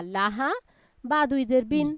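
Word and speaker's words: لهب: তাই এখানে পড়তে হবে লাহাব, লাম জবর লা, লাহাব। হা জবর হা, বা দুই জের বিন আমরা পড়লাম, বানান ঠিক আছে। উচ্চারণের ক্ষেত্রে কি করব? লাহাব।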